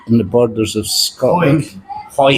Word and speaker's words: Hawick: We're in the Queen's Head in Hawick, in the borders of Scotland. Hawick. Not Hawick, like it would actually be pronounced. It's not phonetically.